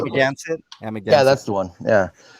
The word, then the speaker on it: Amagansett: Again, I forgot how to pronounce it. You're talking about Amagansett. Amagansett, yeah.